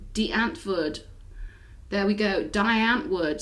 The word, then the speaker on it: Die Antwoord: you know we're optimistic so go listen to Die Antwoord Die Antwoord there we go Die Antwoord some people say